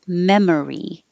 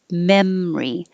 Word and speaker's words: memory: sound treasured memory and you can say this with three syllables memory or two syllables memory but the first vowel is that's important what's your